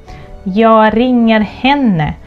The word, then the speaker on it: jag: I, jag, but we also say ja. There is a reduction there, so we don't pronounce the last letter.